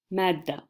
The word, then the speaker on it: مادة: But when you are going to connect it to something else, so the subject for, let's say, الجبر, which means algebra. So مادة الجبر, you have to pronounce it as a ta when you're connecting it to a noun or a different word after that.